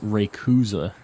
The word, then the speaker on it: Rayquaza: it sounds Rayquaza um in Japanese that one is actually different whether you say Rayquaza or Rayquaza uh it's Ray kuza in Japanese so there's no way